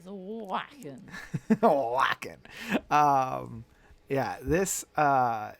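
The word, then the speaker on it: Wacken: wrong with the pronunciation I believe it's whacking or is it w yes it is whacking whacking um yeah this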